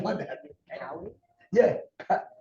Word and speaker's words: Kauai: What the pronunciation was that? Cowie? Yeah, Kauai.